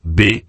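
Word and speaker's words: 八: parce qu'il se prononce B, un son très proche de F qui signifie prospérité et richesse.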